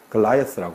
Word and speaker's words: Goliath: 영어로는 Goliath라고 발음하죠, 그죠?